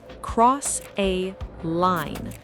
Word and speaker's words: cross a line: The stress in pronunciation, cross a line. The important word is line.